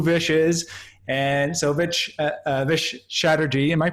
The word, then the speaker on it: Chatterji: And so Vish Chatterji, am I pronouncing your last name right?